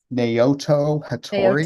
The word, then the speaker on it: Naoto Hattori: Can you pronounce it? Do you know this artist? It's Yes. Naoto Hattori.